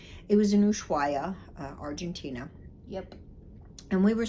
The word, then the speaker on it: Ushuaia: So it was in Ushuaia. Mm-hmm. So, did I say that right? Yes. Yeah, because I'm really bad at pronunciation. It was in Ushuaia, Argentina.